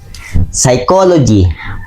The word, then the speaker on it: psychology: Number two, psychology. P is the silent.